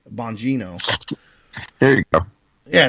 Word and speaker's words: Bongino: It's Bongino, right? Bongino.